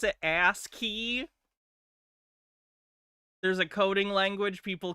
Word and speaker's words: ASCII: Some of the matrix code is ASCII.